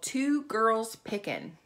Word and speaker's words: Two Girls Pickin': She has a YouTube channel with her daughter, and it's called Two Girls Pickin'. And I want to make sure I say it correctly. It's the number two girls and then pickin', no G.